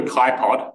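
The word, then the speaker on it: χpod: But, and this is called a KaiPod, rhymes with iPod, because it was built in 2005, and that was the hot new thing at that time.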